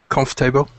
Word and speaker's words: comfortable: So you just say conf and table. Comfortable. Just like that. Comfort. I'm trying to think because it's weird because it's messing me up of how it's spelled. Comfortable. It's kind of like C-O-N with an F.